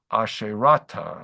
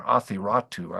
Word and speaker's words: Athiratu: And those myths describe El, who is the chief god there, and Asherah, or Asherata, as she would be called there, Athiratu, actually, in the Ugaritic way of pronouncing things.